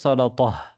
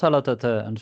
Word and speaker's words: سلطة: இல்ல நீங்க நிறுத்தும் பொழுது சலத்தா. நிறுத்தும் பொழுது ஓகே. சலத்தா. கடைசியில ஹா இருந்த தா மர்பூத்தா இருந்தால் சலத்தா. இடையில அது வந்தால் சலத்தன்னு சொல்லுவீங்க தானே?